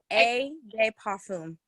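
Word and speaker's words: eau de parfum: So Parfum is how you say it. A de parfum.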